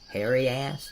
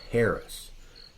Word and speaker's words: Harris: Mark, hairy ass, is it? Actually, it's pronounced Harris.